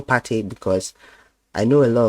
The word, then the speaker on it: Partey: viewers know him as Partey, but in Ghana, it's usually his name is called Partey. It's pronounced very, very short, Partey. That's the pronunciation, but everybody knows him as Partey, Partey, Partey.